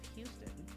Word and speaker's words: Houston: Houston, South of Houston.